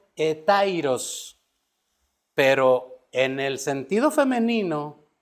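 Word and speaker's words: ἑταῖρος: se representa y significa, se pronuncia más bien dicho, etairos.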